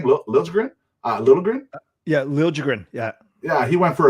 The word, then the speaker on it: Liljegren: Yeah, Liljegren.